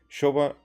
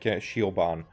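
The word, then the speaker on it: Siobhan: it should be pronounced, for me it's like Shioban is what comes to mind, and I know that it's not like that. So before I translate it to Shovan, I think of Shioban first.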